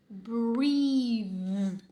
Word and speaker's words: breathe: Breathe com o TH vozeado. Breathe, breathe. Som de I, TH vozeado.